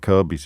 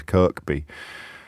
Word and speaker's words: Kirkby: for example most obviously there's a lot of kirby's in yorkshire which you might pronounce phonetically as kirkby kirby moorside and and one of